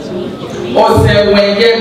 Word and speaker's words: Osemwengie: Oluwatumininu Osemwengie, mommy, I pronounce her name for me.